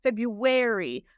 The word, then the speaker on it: February: Getting from that to the R, sometimes a little slips in. I do this. Air. And that's why you're going to get that. And hair and wear over there. February. Like I'm wearing a jacket. I do that too. I actually find it quite difficult to cut out that little schwa in. So coming from some languages, it's actually easier and it's harder to learn the in there, right?